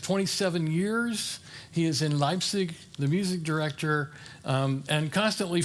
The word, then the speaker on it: Leipzig: Thomas Church in Leipzig. And the I'm giving it the German pronunciation.